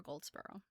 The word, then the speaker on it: Goldsborough: Her middle name, Faulds, and then her last name is spelled Goldsborough. So Jennifer Goldsboro.